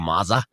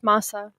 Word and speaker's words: masa: Masa. Yeah, it's masa.